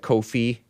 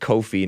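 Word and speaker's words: Ko-fi: let me double check Kofi it's pronounced Kofi not Kofi KO hyphen f i radical homosexual support in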